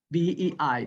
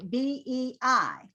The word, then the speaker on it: BEI: education institute okay so we would say b e i like abc so you're going to go up in the pitch on the third acronym we say like u s a a b c a that's it because otherwise bei i don't hear what bee is okay i know